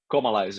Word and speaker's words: Comalies: and now we're talking about the remaster of is it Comalies? Comalies, yes. Yeah, sweet. I'm happy I pronounced that right.